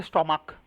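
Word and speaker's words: stomach: এটা কিন্তু উচ্চারণ হবে স্টমাক পেটবেলা স্টমাক আচ্ছা এখানে বুঝলি যে সিএইচ কোন সিঙ্গুলার নাউনের শেষটা যদি সিএইচ থাকে এবং সেটার উচ্চারণটা কে এর মত হয় তাহলে প্লুরাল করার জন্য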